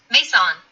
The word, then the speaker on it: Maison: Maison, pronounced Maison, recorded my doctoral graduation.